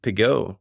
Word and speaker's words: Pégau: Main family member behind pigo or piga depending on if we want to be provansal that the famous wiery